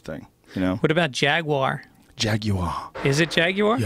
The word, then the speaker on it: Jaguar: What about Jaguar?